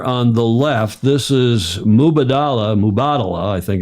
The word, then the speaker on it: Mubadala: mu mu hi it's mubadala is a lot easier it's like Kamala it's a lot easier than Kamala mubadala mubadala mubadala the accent is on the second syllable is it yeah it